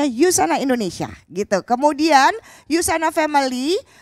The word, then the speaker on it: USANA: instagram at yusana Indonesia tulisannya usah nah ya kami membacanya yusana Indonesia gitu kemudian yusana